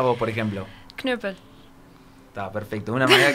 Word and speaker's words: Knüppel: ¿Está bien pronunciado Knüppel así? ¿O cómo se dice correctamente? Sí, está más aceptable. O menos. ¿Sí? ¿Cómo lo pronunciarías vos, por ejemplo? Knüppel.